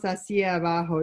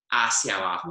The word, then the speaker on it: hacia abajo: We could also say miramos hacia abajo just to kind of get that direction cue in. Look Be forward. careful with your pronunciation there. Miramos hacia abajo. Yeah. Hacia abajo. No, hacia abajo.